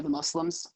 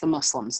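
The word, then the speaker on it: Muzlimz: We're on the internet under the Muslims, mostly everywhere, but we spell it with two Z's. M-U-Z, the M-U-Z-L-I-M-Z for our handles. But it's pronounced the Muslims, not the Muslims.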